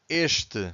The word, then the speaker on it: este: The word starts with ES consonant, but we have to stress the first syllable. So in this case, we have to say este, so you can clearly hear the first syllable.